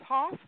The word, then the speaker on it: Hoff: friends peter um hoff i i want to say huff but it's hoff and his wife eunice